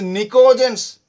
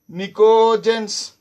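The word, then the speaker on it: pnictogens: It is also called as nicogens. Nicogens. See, T silent. Even P also is silent. Both P and T silent.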